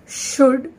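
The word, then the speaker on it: should: रही है, तो एल जो है वो इसमें साइलेंट है। ऐसे ही शुड, एस एच ओ यू एल डी शुड पढ़ा जाएगा, सी ओ यू एल डी कुड पढ़ा जाएगा।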